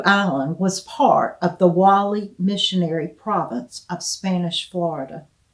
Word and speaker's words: Guale: During the 16th and 17th centuries, Sapelo Island was part of the Wally Missionary Province of Spanish Florida. We covered this in depth with our tidbit on St. Catherine's Island. Wally is spelled Guale.